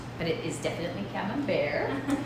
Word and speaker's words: Camembert: soft squishy squidgy one um camembert looks like cameron bert but it is definitely cabin bear rhymes with songs there that's how you can remember